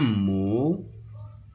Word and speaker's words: mot: un mot un mot le T et C et ne se prononce pas un mot il contient